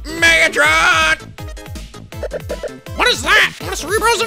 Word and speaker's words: Megatron: no oh no mega Megatron no you don't you're not saying right you got to say it like this oh no Megatron what is that what